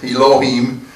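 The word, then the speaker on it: אֱלֹהִים: it's filled a loh iy m ee m eloheem it's not pronounced exactly the way it's built well it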